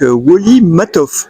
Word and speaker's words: Woli Matthov: Donc, enfin, nous sommes au Salon des super-héros de Valence pour l'édition 2024 avec Wally Matoff. Je le prononce bien?